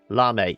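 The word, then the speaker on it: Lamé: There's an accent on the E. Lame.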